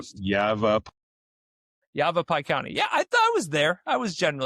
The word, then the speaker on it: Yavapai: Also, how do you pronounce that county the right way? I I feel Yavap Yavapai County.